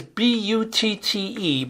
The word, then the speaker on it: Butte: the way it is bu tte but it is pronounced Butte like beautiful Crested Butte is a